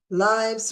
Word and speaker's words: Lives: Lives rhymes with rise, and we're on the ascent.